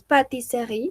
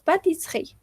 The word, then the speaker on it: pâtisserie: Y aquí sucede lo mismo, no decimos pâtisserie, sino que decimos pâtisserie. Entonces, cada vez que tengamos una E que no esté acentuada, esa E no se pronuncia en la mayoría de los casos.